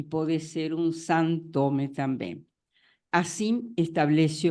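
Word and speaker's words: Sinthome: Então, o grupo, o Santome, e eu vou pronunciar Santome assim quando é com TH, es un seminario que Lacan ministra entre los años 75 y 76.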